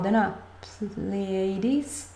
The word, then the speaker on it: Pleiades: i get the pl please ladies please that's how you say it in english the pleiades um serious and please